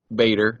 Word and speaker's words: Bader: completely agree that dedri Bader that's his last name yeah is one of the most underrated actors out there see if we can Paul just likes because his last name rhymes with Vader yes that's correct isn't